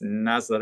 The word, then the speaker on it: Nazareth: Nezzer they spelled like Nazareth but pronounce nozzle a really wonderful composer